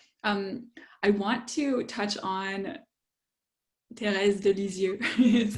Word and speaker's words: Thérèse: I want to touch on Thérèse de Lisieux, is how I would say her name. How did you say it? Therese? Therese? Teresa of Avila. Yeah, Yeah. or of Lisieux. Oh, Thérèse. Thérèse of Lisieux.